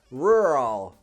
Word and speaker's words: rural: come down my mouth in American English it sounds a bit strange because the sounds smush together rural however in British English you hear more of a distinct two separate sounds row roll roll oh